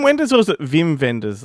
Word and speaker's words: Wim Wenders: But is it You'd be Wim like, Wenders or is it Vim Vendors? Like, I don't know. I've heard people say Vim. I think it's in Europe the W's are pronounced as V's, but There you go.